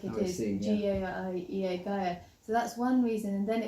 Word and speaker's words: Gaiea: Gaiea without the consonants, so, and that's why it's spelt like it is, G-A-I-E-A, Gaiea.